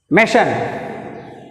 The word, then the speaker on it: machine: Stress is F, second syllable. Machine.